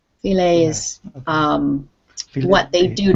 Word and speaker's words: filet: now this word here this is a french word and it's pronounced filet filet is um what they